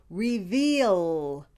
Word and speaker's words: reveal: do the second word reveal the second syllable is spelled v-e-a-l the vowel is a digraph e-a the e is a long vowel e and the a is silent e you say it